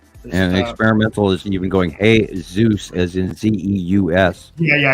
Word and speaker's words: Jesus: different topics so and experimental is even going hey Zeus is in Ze yeah yeah experimental always aasy